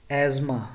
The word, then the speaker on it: asthma: Asthma, ye jo kehte hain asthma ki bimari hai, dame ki bimari ko kehte hain asthma, right? TH silent hai.